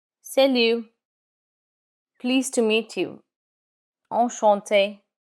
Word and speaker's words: enchanté: But in written communication, you would add an extra E when the speaker is female. But when you pronounce it, it's the same.